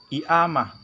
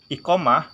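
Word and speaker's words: إقامة: Huruf Qaf kalau di Mesir itu tidak disebutkan. Jadi kalau bahasa Arabnya iqamah, di Mesir itu dibacanya i'amah. Jadi huruf hamzah. Qaf jadi hamzah, i'amah. Tapi kalau di Saudi, iqamah dibacanya g, goil, iqamah. Nah, bedanya dialek seperti itu.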